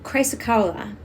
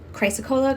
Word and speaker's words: chrysocolla: formula next one is chrysocolla chrysa cola chrysakela it's pronounced a couple different ways um this i feel